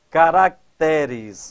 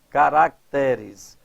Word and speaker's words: caracteres: troféus caráter cuidado olha quando o vocábulo caráter quando posto no plural Altera a sílaba tônica ó caráter a sílaba tônica está aqui no raá caracteres aqui olha caracteres passa até estão vendo olha caráter daqui vai para quê caracteres então nós temos aí essa essa alteração da sílaba tônica isso também acontece com